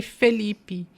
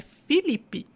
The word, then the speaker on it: Filipe: nome dele né que eu até falei Felipe mas é Felipe fica difícil né porque nós a brasileir algumas coisas né e a gente troca Às vezes o e pelo I né na nossa pronúncia às vezes na forma de falar mas na nossas nas nossas bíblias é Filipe I Então vamos pegar aí